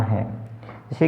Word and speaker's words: hedge: HEDGE हेज, D silent.